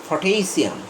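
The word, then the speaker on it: potassium: এই উচ্চারণটা আমি বলেছি পটাশিয়াম, এখানে টি এর উপর স্ট্রেস মার্ক আছে, এই জন্য এখানে ঠেই হবে, পটাশিয়াম, হ্যাঁ, পটাশিয়াম। প্রথম পিটা পয়ে থাকবে, এটা আবার ফ হয়ে যাবে না, পটাশিয়াম, হ্যাঁ, আবার পটাশিয়াম বলবো না, পটাশিয়াম।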